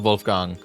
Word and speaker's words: Wolfgang: guess it's admirable Wolfgang I'm gonna pronounce it Wolfgang because that's the German way to pronounce it all right we got